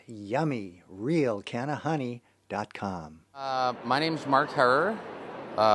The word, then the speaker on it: Herer: My name's Mark Herrer. It's pronounced Herrer, as in terror.